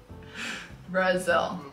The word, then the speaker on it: Brasil: Brazil. It's the same in English. No. Brazil and Brazil. That sounds the exact same.